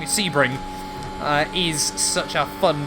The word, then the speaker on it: Sebring: really finally feels like spring well see i don't know why i keep saying it wrong sebring uh is such a